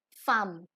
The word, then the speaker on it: femme: Now for women in French, it is femme.